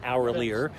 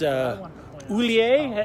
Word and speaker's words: Oulier: It's not Hourlier. It's Oulier.